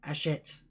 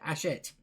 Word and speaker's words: Hatchet: online account with Hatchet, I've got to remember to say their name, Hatchet. In the end, I just call their operations line up just so I can hear how to pronounce it, Hatchet.